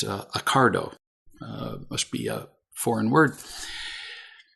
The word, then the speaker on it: Ocado: I'd never heard of it, but apparently it's pronounced Accardo.